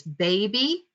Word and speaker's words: baby: The first syllable is bay, the second syllable is b. So it's baby, and that Y, because it's at the end of a longer word, says E. not I.